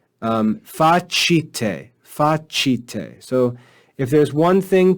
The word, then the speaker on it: facite: But then in the last word, we see facite, chite.